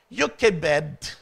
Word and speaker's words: Jochebed: and honor our mothers today Moses parents joked pronounced as yuk bed in Hebrew and amram were seldom mentioned in